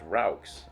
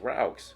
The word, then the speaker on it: roux: take a stick of butter pronounced roux r-o-u-x roux no it's roux it's roux so you melt it